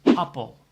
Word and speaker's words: appel: Apple is appel. After the A, there's a double P, so the pronunciation is A.